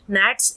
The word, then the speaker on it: gnats: actually नैट्स एक तरह के कीड़े होते हैं, जी साइलेंट है यहाँ पर, और उनका जो